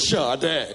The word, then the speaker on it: Sade: that singer sha well my name is spelled Sade but I pronounce it sha day great my name's Dennis